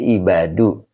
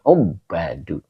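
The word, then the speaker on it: عباد: Ya, hitam kok nggak ibadu, Pak? Ya, di sini ada dua ya. Ada juga yang bacanya ibadu. Nah, kalau saya waktu belajar bacanya ubadu.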